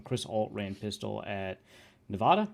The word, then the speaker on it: Nevada: When Chris Alt ran pistol at Nevada, right? It's Nevada. Nevada. I think I'm supposed to pronounce it Nevada. That's what people from Nevada say.